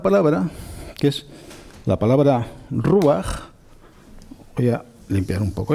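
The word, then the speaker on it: רוח: que hay una palabra, que es la palabra ruach. Voy a limpiar un poco esto. Ruach, que seguramente os suena a la mayoría, que significa literalmente viento.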